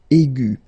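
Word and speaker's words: aiguë: Okay, and then the feminine form will be aigu. So phonetically, it is exactly the same thing.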